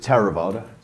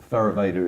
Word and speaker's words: Theravada: In Pali, I pronounce it Theravada. Theravada is perfectly acceptable as well.